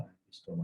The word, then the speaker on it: Ambystoma: Okay, కొన్నిటిలో ambystoma అని ఇచ్చారు, కొన్నిటిలో ambystoma అని ఇచ్చారు, but it is better to pronounce it as ambystoma.